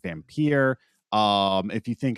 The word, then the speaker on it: Vampyr: And some people say vampire, but old English text will pronounce it Vampyr.